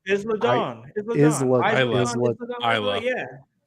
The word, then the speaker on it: Isla: Isla. Yeah. Isla.